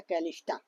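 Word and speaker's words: Callisto: लो, Europa, ये Ganymede है, और एक होता है कैलिस्टा, कैलिस्टा बोलते हैं। ठीक है, कैलिस्टा की स्पेलिंग क्या हो जाएगी? C A, कैलिस्टो बोलते हैं, कैलिस्टो।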